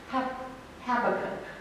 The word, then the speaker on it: Habakkuk: But according to Google, it's pronounced Habakkuk.